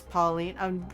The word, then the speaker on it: Pauline: So, you chose that because some friends made me a song and sardine rhymes with your name, which is Pauline.